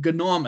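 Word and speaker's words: GNOME: ना केडी एंड गनोम, इसको हम लोग गनोम बोलेंगे। याद रखो जो जी है ना, इट्स प्रोनाउंस्ड एज ग, ग, ओके ग, ये ग है, GHU है, तो ये ग है।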